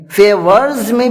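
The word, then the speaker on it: favors: فیورز میں بھی جو ایس لگا ہوا ہے اس کا تلفظ زا سے ہوگا، کیونکہ آر کے بعد اگر کوئی ایس آتا ہے اس کا تلفظ زا سے ہوتا ہے.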